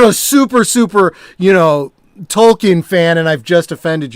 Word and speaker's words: Tolkien: well it's funny because we all pronounce the tolkien like for like decades and then they finally say no it's tolkien okay i'm old then